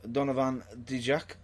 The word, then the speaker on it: Donovan Dijak: Yes, this is Donovan Dijak. Have I pronounced that right?